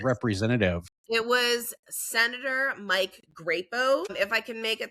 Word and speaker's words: Crapo: It was Senator Mike Grapo. If I can make a tiny little tongue in cheek, his last name is actually spelled Crapo, but it's pronounced Grapo.